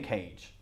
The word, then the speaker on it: cage: Caje, pero es cage. ¿Cómo? Nicolas Cage, the famous actor. Okay, exactly the same.